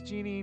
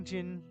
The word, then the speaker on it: genie: I've heard it pronounced both ways. Genie, Jin.